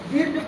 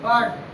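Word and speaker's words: bird: जैसे बी आई आर डी, बीट पढ़ेंगे तो गलत हो जाएगा, बाइट पढ़ेंगे तो गलत हो जाएगा क्योंकि यहाँ पर आर के साथ आई आया है इसका उच्चारण आ होता है तो इसको क्या पढ़ेंगे बर्ड, बी आई आर टी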